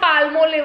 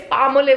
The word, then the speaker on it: Palmolive: It's not palmolive, it's palmolive. L is silent.